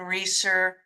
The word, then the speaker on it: Rieser: reach it at Reeser um author and reer is a German name and really should be pronounced reer but it's been anglicized a little bit to reer but it's